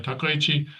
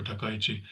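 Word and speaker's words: Takaichi: You know, just take it one Japanese syllable at a time. And Japanese is very easy language to pronounce. You know, it's not Chinese or it's not even Korean. Korean is much more difficult to pronounce than than Japanese. So it's ta kai very simple okay red carpet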